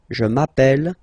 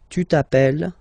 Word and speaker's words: appelle: You tend to pronounce it like a, really open.